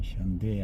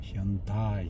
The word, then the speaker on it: 현대: 영어식 발음은 현대 안 하고 현다이 이렇게 발음. 이 해서 현다이, AI가 다 이렇게 발음.